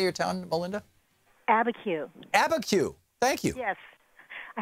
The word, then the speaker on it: Abiquiu: Abiquiu.